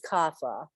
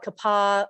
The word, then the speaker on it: kapha: so yeah so I pronounce it as kapha yeah some people call it Kappa I I was trained as kapha so kapha is lovely